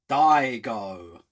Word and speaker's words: Daigo: That name Digo. Oh, okay. Okay. I'm just kidding. Correct.